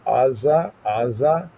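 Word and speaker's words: עזה: The Azah. In English, you say Gaza, but that's not there. It's because that Ain is not pronounced as a regular A. It's not Azah, but it's Azah, right?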